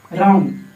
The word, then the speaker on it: wrong: रॉन्ग, WRONG रॉन्ग, रॉन्ग मतलब गलत, रॉन्ग मतलब गलत क्योंकि इसमें W साइलेंट रहता है।